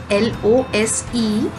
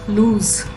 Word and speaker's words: lose: in pronunciation this word l o s e has a z sound at the end lose lose and this word